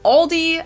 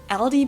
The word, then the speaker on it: Aldi: for very low prices in English people usually pronounce this Aldi I think I've also heard Aldi before but I think most people say Aldi or they also sometimes add an s that isn't there in the end and say Aldi's in